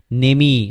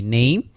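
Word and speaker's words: name: আমরা কিন্তু কখনো বলি না নেমি, আমরা কিন্তু বলি না কামি। কেন বলি না? কারণ ফার্স্ট লাস্ট যে ইটা আছে এটা হচ্ছে আমাদের উচ্চারণ করা হয় না, এই জন্য আমরা বলি কি নেইম, আমরা বলি খাম, আমরা বলি ঠেক, আমরা বলি ফেক।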